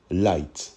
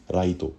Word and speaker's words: Raito: un lycéen qui s'appelle Yagami light de la prononciation japonaise ça se dirait plutôt Yagami Raito light n'est pas n'importe